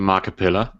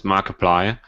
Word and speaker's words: Markiplier: I just want to say you called him marip pillar his name is Markiplier Markiplier I will pronounce it the way I want to I